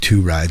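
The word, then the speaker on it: Tu Ride: The song's called "Two Ride," spelled T.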